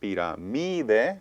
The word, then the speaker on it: pirámide: rule on the mi, and it should be pronounced pirámide, but I said pirámide.